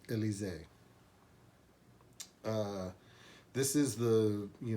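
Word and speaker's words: Elysée: it is spelled e-l-y-s-e-e alyssia i've always called it alyssi but uh i think the proper pronunciation because i think it's supposed to be french or something is uh elise uh this is the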